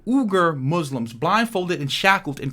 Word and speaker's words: Uyghur: I think it's pronounced the Uyghur Muslims or the Uyghur Muslims blindfolded and shackled in concentration camps.